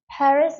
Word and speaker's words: Paris: 저거 빨이라고 읽어야 되나 근데 여러분 빨이라고 읽는 거는 사실은 불어에 가깝게 읽는 거고요 영어식으로 읽으려면 스라고 해가 되는 거예요 par 전부 다 운가